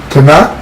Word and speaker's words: Tanakh: Tanakh rhymes with Bach.